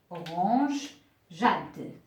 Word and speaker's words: orangeade: de cette façon et se prononce au rondade alors là c'est faux donc je dois ajouter un e avant la suite donc auront orange Jade une orangeade c'est à